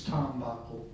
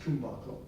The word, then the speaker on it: tumbako: And if you have Hindi, it's tambako. But there are versions, if you get toward the Kutch region and Gujarat region, there are places where it's pronounced tumbako with an U.